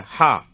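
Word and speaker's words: ح: அடுத்த எழுத்து பாருங்களேன், ஹா. இந்த ஹா எப்படின்னு சொன்னா தொண்டையில இருந்து வரணுங்க. ஹா தொண்டையில இருந்து வரணும் உச்சரிப்பு.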